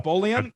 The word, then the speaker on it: Boleyn: Oh, Boleyn, I think that's how you say her name. And Boleyn, yeah. Anne Boleyn, that's right.